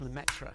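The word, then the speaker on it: Lemaître: I never like to pronounce his name, but it's something like George Lam. It's Lmetra.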